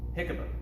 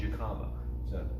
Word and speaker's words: jicama: And here I have some jicama. Some people I know like to call it jicama, but it's usually pronounced jicama.